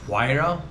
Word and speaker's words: Huayra: it's a couple of very interesting name it's pronounced huayra it's the huayra pagani it is a beast of a car